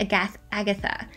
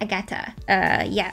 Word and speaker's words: Agata: suit so far is Agata suit. I feel like that's such an awkward name to have, like Agata, because it's not like Agatha, but it's like Agata.